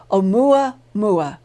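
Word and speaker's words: ʻOumuamua: in the search bar Oh mwah mwah Hawaiian it is spelled oh um you am ua and you will find some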